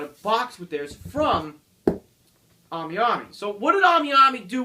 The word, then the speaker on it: AmiAmi: If you don't know what AmiAmi is, it's AMIAMI. AmiAmi. If that's how I pronounce it, some people may pronounce it differently, whatever.